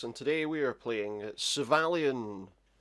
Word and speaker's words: Syvalion: today we are playing civilian at least psy valiant that's how you say it because he just said it there uh yeah this is